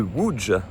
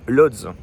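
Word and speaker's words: Łódź: Alors c'est un peu perturbant parce que si vous regardez sur la carte, ça s'écrit Lods pour nous en tant que français. Mais là non, ça se prononce bien w.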